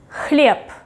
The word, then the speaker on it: хлеб: Хлеб, хлеб. Exactly. So, our voiced consonant B we pronounce as P, voiceless.